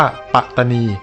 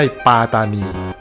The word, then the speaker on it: ปัตตานี: เสียง สั้น ดัง นั้น คำ นี้ ตาม หลัก ภาษา ที่ ถูก ต้อง จึง ต้อง ออก เสียง ว่า ปัตตานี ไม่ ใช่ ปลา ตานี แล้ว การ ถอด เสียง